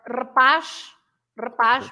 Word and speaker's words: rapaz: or rapaz, boy, rapaz, Yeah. or capaz, capable of something, capaz, etc. But of course, you pronounce the Z as a normal Z if